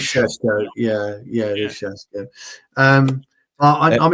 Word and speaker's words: Šeško: I think he pronounced it Šeško. It is Šeško.